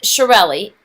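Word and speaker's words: Chiarelli: is shirelli but it doesn't sound like the way it's spelled so let me give you my trick to remember me it's shirelli it's like a chia pet c-h-i-a and then you just add rally at the end r-e-l-l-i but the chia pet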